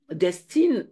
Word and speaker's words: Destine: Destine ou destinée, enfin, en tout cas, j'aime ta question. Destine, c'était très bien prononcé, Muriel, Destine.